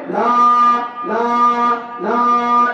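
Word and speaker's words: لا: শব্দ উচ্চারণ করার নাম তিন আলিফ টান লা লা লা ইলাহা ইল্লাল্লাহ লা ইলাহা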